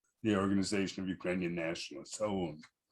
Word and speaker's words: OUN: Both of these are known by their initials, OUN, but I always say it like we do in Ukraine, OUN.